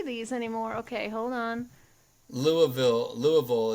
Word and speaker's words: Louisville: Louisville is how you pronounce it if you hail from that city.